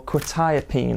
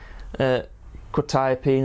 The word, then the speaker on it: Quetiapine: And today we are going to be looking at Quetiapine, or Quetiapine I believe it's pronounced.